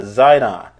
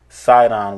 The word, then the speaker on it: Sidon: border shall be unto Zidon, or which is pronounced Sidon with an S.